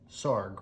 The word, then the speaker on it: Sarg: Sarg rhymes with arg.